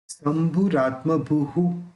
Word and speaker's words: शंभुरात्मभूः: शंभुरात्मभूः, ये जो विसर्ग है उसका उच्चारण ऊ होगा, ऊ निकलेगा, सॉरी। उसका प्रोनाउंस ऊ होगा, क्योंकि भू है, भू के अंदर लास्ट में ऊ बचता है।